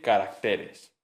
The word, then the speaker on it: caracteres: Se dice carácter, pero se dice caracteres.